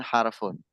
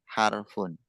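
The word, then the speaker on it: حرف: Ismun, fi'lun, harfun. Ismun, fi'lun, harfun. Itu pengucapannya dalam bahasa Arab. Ismun, fi'lun, harfun.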